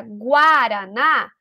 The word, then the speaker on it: guaraná: uma uma afirmação verdadeira porque eu posso ter a palavra guaraná e esse U tá sendo pronunciado ele tem ali eh o o som dele presente na palavra gua gua Então esse